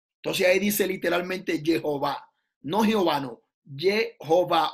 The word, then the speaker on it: Jehová: Jehová. La verdadera pronunciación no es de que Yahweh ni Yahweh, es un invento mesiánico. La pronunciación que tiene el texto como tal es Jehová.